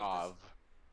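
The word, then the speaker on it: Aveh: Av. Are they both the same name? Oh, it's called Av. Is that how it's pronounced? Yep.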